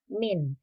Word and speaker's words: mean: yang dimaksud dengan min tulisannya mean tetapi membacanya adalah min min itu adalah nilai